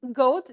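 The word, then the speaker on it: JOAT: It's pronounced goat, go a t, but it's spelled j o a t.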